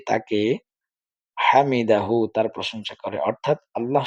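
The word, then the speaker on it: حَمِدَهُ: না সেজন্য হামিদাহ হামিদাহ এই যে হা এর উচ্চারণটা আমরা শেষে করতে হবে সামিআল্লাহু লিমান হামিদাহ সামিআল্লাহ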